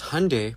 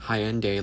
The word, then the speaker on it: Hyundai: our people because Hyundai, pronounced like Sunday, not Hyende like you're saying, is a Korean company.